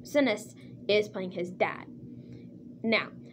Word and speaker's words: Sinise: And Gary Sinise, I think that's how you pronounce his last name, Sinise, is playing his dad.